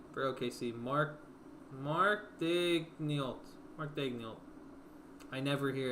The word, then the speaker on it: Daigneault: Mark Daigneault.